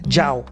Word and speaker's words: Njao: I'm like, say it without the N. Jao.